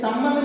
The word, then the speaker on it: संबंध: जैसे इस संबंध में देखिए, सा पर जो अनुस्वार है उसका मां का आधा उच्चारण किया जाता है, और भा पर जो अनुस्वार है उसको ना का आधा उच्चारण किया जाता है।